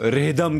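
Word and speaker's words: rhythm: है वो साइलेंट है वैसे ही रिदम उसमें वो एच जो है वो साइलेंट होता है तो इसलिए वो रिदम हो जाता है मेरे हिसाब से तो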